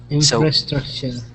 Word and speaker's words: infrastructure: this word it's difficult it's pronounced infrastructure oh infrastructure infrastructure so say it out loud if you need to infrastructure infrastructure good I think you're gonna split it infr structure I skip the structure yeah exactly it's it's